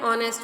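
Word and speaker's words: honest: तरीके से सेकंड है ऑनेस्ट मैन ऑनेस्ट मैन में ओ की साउंड आती है एच साइलेंट रहता है और इसलिए हम यहां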